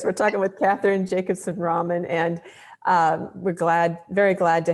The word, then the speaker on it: Ramin: Well, what I want to do before we go any further is just let you know that my last name is pronounced Ramin. Ramin.